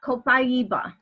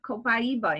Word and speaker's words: Copaiba: And then the last one is Copaiba. And that's spelled C-O-P-A-I-B-A.